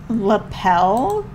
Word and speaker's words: lapel: that's another one um lapel I said label 100 percent very confident in that pronunciation and my friend just looked at me and went lapel I was like okay